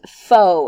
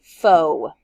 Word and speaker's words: faux: to stretch dynamic the next word is pronounced foe and I encourage you to say that with me foe it is an adjectives